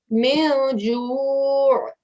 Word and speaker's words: جوع: من جوع. من جوع. Very nice. And just remember to give that ayn sound at the end as well.